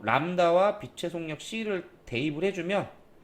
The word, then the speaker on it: 람다: 진동수 F 곱하기 파장 람다 이렇게 쓰고 람다라고 읽어요. 람다.